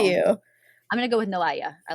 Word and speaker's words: Noailles: Or Noel. I heard it's pronounced two ways by people. Here's the thing: is the French will give it to you in French, Noailles, and then they'll give